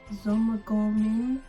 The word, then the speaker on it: Zymurgorium: So it's Zomagorium. So it's spelled Zymurgorium.